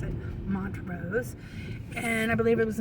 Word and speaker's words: Montrose: And this was in a town called Montrose, which I would have pronounced Montrose, but that's how they pronounce it, Montrose.